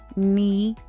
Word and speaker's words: knee: Silent K appears before N at the beginning of words. Examples include no, knee, knife, and knock. When you see KN, you don't prepare your mouth for a K sound.